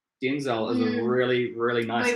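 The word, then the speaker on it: Denzil: her name yeah and she said the name denzel d-e-n-z-i-l and i said no you're saying it wrong it's denzel because i my favorite actor of all time is denzel washington so she she was i said you're saying it wrong you you know it's d d e and z eel she's not look at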